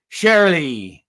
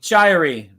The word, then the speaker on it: Shirey: Peter if the shark surely sorry Shirey rewind this stop and redo this note every you you are one of a thousand people that mispronounced my last name it's it's a common